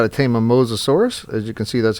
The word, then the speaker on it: Mosasaurus: is show you guys how to tame a mosasaurus as you can see that's how you pronounce it that's from the wiki right there